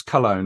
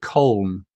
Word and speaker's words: Köln: Is that how you pronounce Cologne, or is it Köln? Köln. In Germany, you speak it Köln. Köln. It's pronounced in Germany Köln. Yeah, and so the foreign people say Cologne.